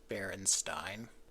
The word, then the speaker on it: Berenstain: The original author is very insistent that it's actually pronounced Berenstain.